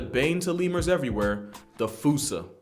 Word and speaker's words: fossa: And of course, we're talking about Madagascar's top predator and a bane to lemurs everywhere, the fossa. Although with its spelling, I'm pretty sure it's actually fossa, but the day I pronounce it like that is the day I lay my childhood to rest.